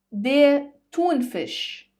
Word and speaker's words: Thunfisch: Der Thunfisch, die Thunfische, der Thunfisch, die Thunfische.